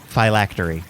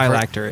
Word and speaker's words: phylactery: Phylactery. There's an extra syllable. You were close. You missed the Phylactery.